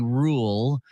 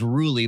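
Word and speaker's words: Ruhle: was interviewed by Stephanie rule I thought it was ruly but I heard her say her name it was Rule and uh it it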